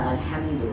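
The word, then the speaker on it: الحمد: আমি যেটা করছি ওইটা আলহামদু হাটা হচ্ছে একটা হা লম্বা হা বড় হা আরেকটা হা আরেকটা হা আছে এই হা গোল হা গোল হা উচ্চারণ করতে হয় গলার এদিক থেকে আর বড় হা উচ্চারণ করতে হয় গলার মাঝখান থেকে মাখরাজ জানতে হবে এখন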